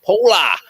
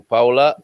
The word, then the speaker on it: Paula: paula already paula in in the english pronunciation paula but uh here in portugal pola whip and slipper from